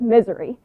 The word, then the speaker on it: Missouri: countdown as number five the word Missouri is it pronounced at least three different ways is it missouri missouri or just misery now i'm from the southwestern part of the state and i say it the first way Missouri but I met